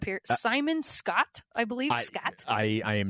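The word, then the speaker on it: Skjodt: Simon Scott I believe Scott I I am not sure skj o DT so the so the J is silent we're we're assuming silent J sure I'm going to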